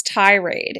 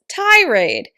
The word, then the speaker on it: tirade: about how to pronounce tirade its tirade tirade tirade the stress is on the first syllable like I said a